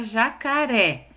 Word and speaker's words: jacaré: Nesse caso, a sílaba ré, de jacaré, é a última sílaba da palavra.